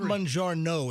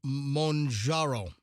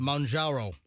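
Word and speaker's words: Mounjaro: Not Mangiano. It's Monjaro. Whatever. Manjaro is how you pronounce it.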